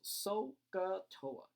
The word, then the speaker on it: SOHCAHTOA: and by the way this is once again pronounced sohcahtoa that's generally the way people choose to pronounce